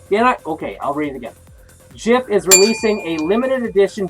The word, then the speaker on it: Jif: General Manager JM Smucker Company, I guess it's just JM, the brand's manufacturer said in a press release, although Jif is obviously pronounced with a soft G, people mispronounce the word